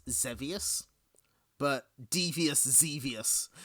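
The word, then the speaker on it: Xevious: I believe the game is pronounced Zevius, but Devious Zeus.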